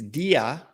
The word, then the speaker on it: Dia: In Yeah, fact, but she made sure we say her name correctly. It's Dia.